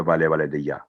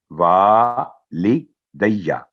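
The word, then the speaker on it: وَالِدَيَّ: کام mistake ہوتی ہے, والے دیا, تو والے دیا نہیں ہے, وا لی, واو پر زبر, ساتھ الف ہے, 2 سیکنڈ آواز لمبی کر کے وا لی دیا, ولی والی دیا, تو یہ ہے اس کا صحیح تلفظ.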